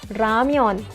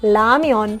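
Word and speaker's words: 라면: how it sounds guys if it comes at the beginning it can be sounded R or L R or L for example, look at this word guys i pronounce it Ramion i can pronounce it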